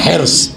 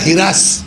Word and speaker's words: حرص: تو جس کا پروناؤنسیشن جو ہے یا صحیح تلفظ کیا ہے, حرص. لکھنؤ جائیے گا تو یہ ہو جائے گا ہرس.